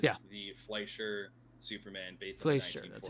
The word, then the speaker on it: Fleischer: the Fleischer Superman based Fleischer, on the 1940s that's how you pronounce it.